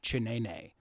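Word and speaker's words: Ciśnienie: They're called, I believe in Polish, it's pronounced like chinene. It's the Polish word for pressure. But it's spelled Cisnienie. Okay, yeah.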